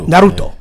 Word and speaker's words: Naruto: said what because you're saying it wrong yeah naruto but yeah uh they had a marathon i